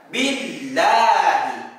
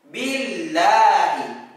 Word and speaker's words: billahi: Contoh seperti lafaz Allahu, ada harokat kasroh di sebelumnya, itu dibaca billahi. Billahi, bukan dibaca billahi, tetapi dibacanya billahi.